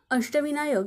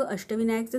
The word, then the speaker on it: अष्टविनायक: जसं की मी सांगितलं शब्दात शेवटी व्यंजन आल्यास त्याच्यापुढे अ चा उच्चार होत नाही म्हणून आपण के च्या पुढे ए लिहिणार नाही मग अष्टविनायकचं स्पेलिंग काय तयार झालं